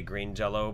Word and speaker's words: Green Jelly: They just go by, everybody calls them Green Jello and they say Green Jello, but it's spelled Green Jelly.